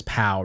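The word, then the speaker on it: Pou: I mean, my name is Pow, right? And I spell it P-O-U.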